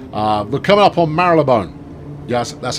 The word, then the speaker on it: Marylebone: but coming up on marylebone yes that's how it's pronounced some people say marla bone they're wrong it's marilyn bone right and uh and